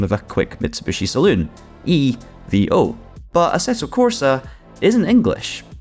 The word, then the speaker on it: EVO: we know so far about aeto cors at Evo normally in English we would say that this game is called aeto Corsa evil in the same way we'd have abbreviated the